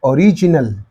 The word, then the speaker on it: original: receiving that original okay beginning beginning beginning but here original original original original because Al this one is added and therefore preceding the syllable okay original okay so